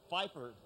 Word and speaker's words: Pfeiffer: How do you say PF? All right. PFI. Is that Pfeiffer? Pfeiffer.